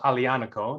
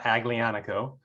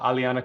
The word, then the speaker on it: Aglianico: i think it's pronounced alianico the g is silent so it's not aglianico uh alianico but then again we're